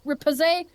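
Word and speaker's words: Riposte: How do you pronounce that? Repose. Repose.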